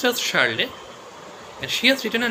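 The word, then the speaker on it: Charlotte: a r l o t e charlet it's pronounced as charlet and she has written a novel which is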